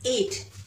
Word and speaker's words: eight: Okay, eight, yes, eight.